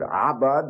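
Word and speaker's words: עבד: We have the word abad, and you pronounce it that way with the throat. It kind of sounds like you're being strangled.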